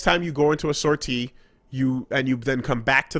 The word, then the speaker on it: sortie: You have some other weird English pronunciation of sortie? In English, it's sortie. So really? Yeah. Well, guess what? It's a fucking French word, and it's pronounced like this.